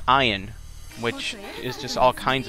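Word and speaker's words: Ein: every every time after that i called him ian but apparently it's pronounced iron which is just all kinds of strange but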